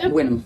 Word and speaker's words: Wynnum: Yeah, Wynnum.